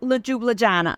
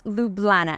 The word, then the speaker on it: Ljubljana: So let's start with Ljubljana, or as I used to call it, Ljubljana. But the phonetic pronunciation is right here, and it's Ljubljana.